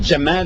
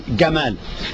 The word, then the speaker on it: Jamal: So instead of Jamal, which is phonetically correct, for example, they Gamal.